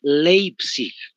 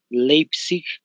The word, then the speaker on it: Leipzig: pronuncia Live Sí pero es en realidad leipzig para que me entiendan mejor leipzig con g de gato al final no ves Entonces ahí